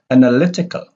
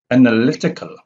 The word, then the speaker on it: analytical: which ends with echo they have the primary stress on the anti-penile syllable anti-pin anti-pinna syllable or syllable from the uh penultimate is the second from the last and anti-pinot is the